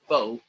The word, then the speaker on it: pho: Americans say pho on it. Yes, the correct pronunciation is pho, right?